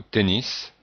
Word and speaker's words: tennis: Donc il y a la prononciation du mot tennis qui est en fait un mot anglais et que l'on prononce donc avec la prononciation qui ressemble à l'anglais.